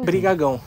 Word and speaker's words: Brigagão: E uma pergunta, qual que é a pronúncia do seu sobrenome? Brigagão? Brigagão. Brigagão, eu acertei.